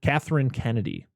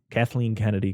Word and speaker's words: Kathleen Kennedy: Catherine Kennedy. Kathleen Kennedy. Catherine. No, it's Kathleen.